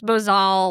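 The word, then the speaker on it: bosal: How do you say it? Bosel. Yeah. We figured out that one night. Me, you, and Kathy all said it fucking different. Yeah. There's different ways to say it.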